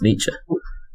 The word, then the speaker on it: Nietzsche: that to be fair nietzsche's not your pronouncer either it's nietzsche you're in the original german and the other side